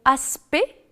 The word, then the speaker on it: aspect: le elle est prononcée attention aussi aux mots aspect est distinct dans lesquels ni le sait ni le thé ne sont prononcés alors qu'on dit direct